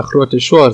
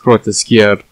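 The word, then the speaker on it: Grootschuur: I've been calling the grote shore zoo, which is just wrong apparently. It's pronounced grote skier zoo.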